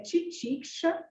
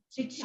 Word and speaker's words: titiksha: Então, a pronúncia é Titiksha. Titiksha.